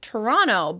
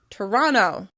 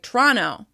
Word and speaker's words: Toronto: One of Canada's most well-known cities, Toronto, is called "Toronno" by locals: "Toronno." Actually, I think they often drop that first schwa sound as well, so it sounds like "Tronno, Tronno.".